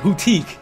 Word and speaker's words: Hootique: That's how you say it. Hootique.